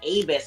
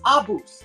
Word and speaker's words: ABUS: guy from Europe and I said abis and he's and I was like and he's like I don't understand why you Americans pronounce it like that it's Abus I'm like sorry we